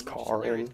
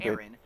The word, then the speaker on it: Karin: Kareen, I think they say pronounce it Kareen. I think it's Karin. It's fucking stupid. Karen, but it's Kareen, apparently.